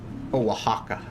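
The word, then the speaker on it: Oaxaca: Yeah, I would imagine it's kind of like a uh there's like a Spanish cheese called like oaka spelled like o a x a ca and that is a that is a white cheese.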